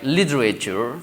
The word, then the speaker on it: literature: So the first T we sound as D sound, so it becomes right, literature. But where else, right, we also still expand all these syllables, like let's say like literature, we have 4 syllables, but while the other side in British pronunciation we have just say like literature, it becomes it minimizes to only 3 syllables.